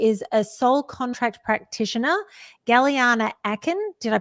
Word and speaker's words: Gellyahnah Aakhen: Galana Aken. Did I pronounce that correctly?